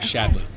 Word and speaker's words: Shadley: hard drives oh okay this is a Shanley you're the director technical marketing right shadley oh no worries sorry everybody pronounces it wrong so it's not a problem